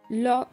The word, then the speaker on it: l'ho: আমি এটি খুঁজে পেয়েছি, l'ho trovato. এখানে এইচ এর কোনো উচ্চারণ নেই, এল অ্যাপোস্ট্রোফ এবং ও এর উচ্চারণ হয়েছে, l'ho trovato.